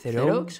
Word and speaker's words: Theroux: Theroux, es como francés, ¿no?